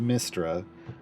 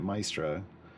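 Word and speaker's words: Mystra: it's spelled my s r a but it's pronounced mistra I always grew up pronouncing it Maestra it's the difference between you know now now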